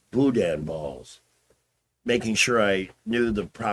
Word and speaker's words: boudin: It's boudin balls. Making sure I knew the proper pronunciation.